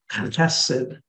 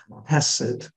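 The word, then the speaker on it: חסד: You put a dot under the H, and that will remind you to pronounce it as a German C-H. Accent on the first syllable, H-E-S-E-D, Chesed. Chesed.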